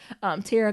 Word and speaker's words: Tara: Because I would say Thera. Tara, go support her shop.